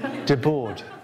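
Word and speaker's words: Debord: How do you pronounce how do you pronounce the name D-E-B-O-R-D? De Boer. I said, de Boer. Oh, right, de Boer, okay, good.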